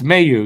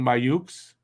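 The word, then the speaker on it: Mailloux: It's a silent X. I'm not saying Mayukes.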